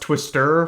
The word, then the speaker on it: Twister: The first book and this book takes place in Twister, Utah, which I just found out is pronounced Twister for some reason, like with the emphasis on the stir.